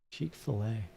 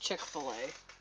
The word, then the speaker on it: Chick-fil-A: Dash something like that Chic Fila that how it's pronounced Chic Fil-A no no it's pronounced Chick-fil-A Chick-fil-A this was so weird I've